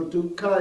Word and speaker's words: dukkha: du right k k this is the poly pronunciation so duka is usually translated as suffering anicha impermanence and